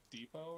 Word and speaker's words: depot: despotic leader of the depot and rise up and kill those filthy tentacle faed freaks also is it pronounced Depot or yeah yes it is yeah like Home Depot where you can get